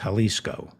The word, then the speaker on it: Jalisco: jalisco new generation drug cartel i think it's pronounced jalisco the jalisco new generation drug cartel which mexico